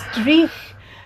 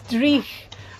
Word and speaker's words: dreich: Drugged or I'm Oh, when mispronouncing it. it's dreich. It's dreich.